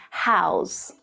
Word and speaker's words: how's: So notice how the letter S is pronounced as the voiced Z sound, right?